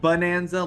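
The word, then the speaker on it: Bananza: And that's bonanza. Like a banana. Yeah, banana. Exactly. Yeah, bonanza. Yeah, bonanza. It's like playing on playing on the words. How everybody already pronounces it anyway.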